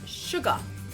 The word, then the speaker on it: Suga: which is sugar sugar so notice how short these sounds are we we're almost not even saying a full syllable we go sugar so in Korean we need to make sure they're a little bit longer than that sure car so